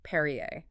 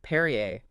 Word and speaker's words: Peryea: And just a quick note for you listening, uh, the records spell it P E R Ya, but the family actually pronounced it Perier. Oh, that's interesting. Perier. Yeah, Perriier.